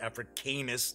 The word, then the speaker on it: Africanus: Most of the new SPQR battles come from long out-of-print SPQR game modules: Pyrrhic Victory, Consul for Rome, Africanus, I believe it was pronounced Africanus, not Africanus, War Elephant, Jugurtha, and from C3I Magazine.